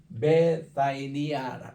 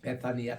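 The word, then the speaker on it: Βηθανία: 요게 오늘날 단이라고 이름을 하는데 베다도 원에 보면 베사니아니다 베사니아 따라합시다 베사니아 베니아 베사니아 이렇게 발음을 해요 그래서 타우타 앤 베사니아 에네 베란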